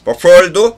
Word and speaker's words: before: Before도 for. 강세가 for에 있으니까 before가 before. 더 약해지면 for.